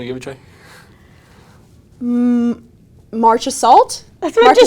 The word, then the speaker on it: Marchessault: Marchessault? That's what you said. Marchessault. What? What There's the a heck? T in there. March- There is a Marchessault? T in there, but it's silent.